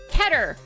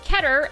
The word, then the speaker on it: Keter: There is, Safe, Euclid, and Keter. I learned that this one is pronounced Keter and not Keter. I originally thought it was Keter, but it is not.